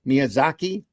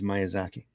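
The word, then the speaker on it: Miyazaki: gents uh M Zaki Miaki was I pronouncing it wrong I it's myazaki Marvy in the house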